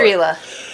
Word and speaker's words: Estrela: I'm not sure how exactly you pronounce it cuz I've never heard it pronounced before. Estrela.